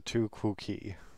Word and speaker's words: tu quoque: It's a tu quoque. They say that's how it's pronounced.